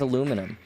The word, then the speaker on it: aluminum: Aluminium, I think, is technically correct, but for some reason... it's British, yeah. Yeah, it's if you read it out, it's like reading the letters. That's the technical pronunciation. Yeah. It makes sense. But everyone just says aluminum.